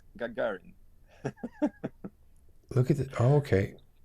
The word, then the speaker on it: Gagarin: Not Gagarin, but Gagarin.